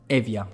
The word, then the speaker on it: Evja: talking about agritech let's talk about Avia or evja I'm not sure how to pronounce it Evia perfect so Avia agric startup just secured a